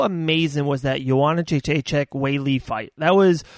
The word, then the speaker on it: Weili: So I was going for is it Wally? I always say her name wrong. Weili. Weili, yep.